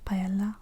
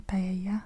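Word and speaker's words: paella: En anglais, on dit pay. Payala, on prononce le l. Je crois qu' en espagnol c'est Payaya.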